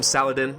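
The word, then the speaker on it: Salah ad-Din: going to be Arabia Lord salahadin I believe that's how you pronounce it in the proper Arabic salahadin most people just call him Saladin I could call him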